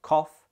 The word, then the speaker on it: cough: Both of these end in a f sound, yet one pronounces the O in the middle for cough and the U in the middle for tough.